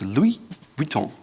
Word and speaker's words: Louis Vuitton: It's almost like an umlaut in German on the U, so it's Louis Vuitton.